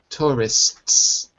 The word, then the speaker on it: tourists: That's difficult to say for most people. Tourists. There's a little s at the end of it.